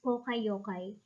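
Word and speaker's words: poka-yoke: problems in japanese equivalent this is pronounced as poka yokai pero of course whatever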